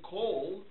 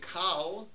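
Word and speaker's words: כל: But if you use the modern Israeli pronunciation, you still say kol. You don't say kal. You don't say karban. You say korban.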